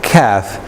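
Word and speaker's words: كاف: it is funny but this is calf calf yeah I like K as in King do you pronounce it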